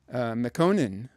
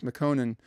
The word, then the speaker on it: Mekonnen: But anyway, the cousin was the general named Ras Mekonnen, I think is how you might pronounce it, Ras Mekonnen.